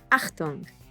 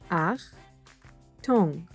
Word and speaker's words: Achtung: Achtung! Ach-toong. The CH is pronounced like ch in English.